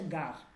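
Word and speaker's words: غار: এটা হচ্ছে গড়, গার, উচ্চারণটা হচ্ছে গার।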